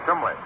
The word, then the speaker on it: Cholmondeley: It was a course in public speaking, and the way they pronounced it in England was Chumley. I never could get Chumley out of Cholmondeley.